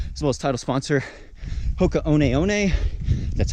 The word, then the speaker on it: Hoka One One: Big shout out to the Patreon supporters for really making this all possible, as well as title sponsor Hoka One One. That's how we pronounce it now.